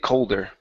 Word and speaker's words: colder: The weather had just started to get colder. The weather had just started to get colder. Colder. Make sure to pronounce that L in there.